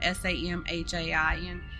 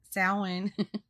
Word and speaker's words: Samhain: celtic pagan festival called salon now i just want to clarify right here that i know that it's spelt s-a-m-h-a-i-n but it's not pronounced samhain okay um just trust